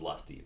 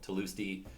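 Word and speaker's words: Tlusty: For the longest time, I thought it was Lusty, but no, Tulusty produced at a high rate as well.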